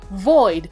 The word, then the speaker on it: Voyd: anyway this video is about void which is spelled v y d I had I found